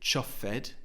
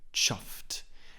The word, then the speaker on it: chuffed: of the word chuffed it's a one syllable word so we don't say chuffed that's two syllables it's simply chuffed and also the Ed ending has a soft T sound because before the Ed